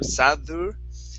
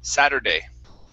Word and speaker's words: Saturday: Give me a good flap T sound instead of sadur, sadder, Saturday.